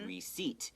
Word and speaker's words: receipt: Okay, once again, we don't pronounce the P. Okay, receipt.